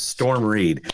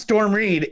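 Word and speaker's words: Storm Reid: what her name is and there it is Storm read I know it's storm Reed and I was like but I just want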